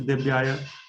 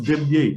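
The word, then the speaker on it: Devyai: No, especially like Tulsi Adi, Brindaya, Tulsi Devyaya. It's Devye, right? Devyaya. But in Sanskrit, it's very sensitive.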